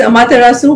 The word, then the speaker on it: Amaterasu: Yeah, it's Amaterasu, which is actually a Japanese word.